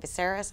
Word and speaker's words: Viserys: So Viserys, I always mispronounce that. Viserys.